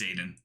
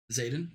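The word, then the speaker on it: Xaden: be dead by this time next summer it's Zaden actually Zaden Zaden okay the formation is silent except for a few untimely sobs from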